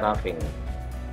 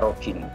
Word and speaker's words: roughing: perataan rating Oking namanya Tapi bacanya Raffi Jangan dibaca roughing enak jadi kalau kamu